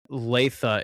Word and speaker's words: Latha: I want to say Latha, if that's how you pronounce it. I'm not 100% sure. Latha. So it's Latha.